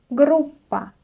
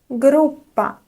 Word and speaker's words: группа: Groupa. Let's also talk about the double consonant in this word. You don't pronounce it like p. No. Instead, you try to pronounce it just a little bit longer.